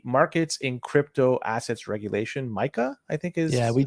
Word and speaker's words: MiCA: due to the markets in crypto assets regulation Micah I think is yeah we talked about M before on the show yeah and it's pronounced Micah right yeah y so these rules come into